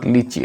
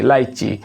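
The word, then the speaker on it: lychee: হ্যাঁ, লাইচি, this is নট লিচি, লাইচি।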